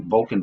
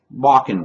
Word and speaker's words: Bakken: there was a miscommunication I was calling it Vulcan Vapes it's actually pronounced walking Vapes and the link for